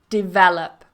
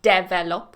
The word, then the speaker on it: develop: absolutely the next one develop develop watch the stress with this one so we're not going to put the stress on the first one not develop which I hear quite a lot I don't know